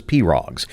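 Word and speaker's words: pirogue: For Ernie Seavoy, it's a priceless collection of wooden pose, which he pronouncs as Perrogs.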